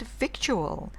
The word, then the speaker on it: victual: Through the actual difference seems little, we say actual but victual.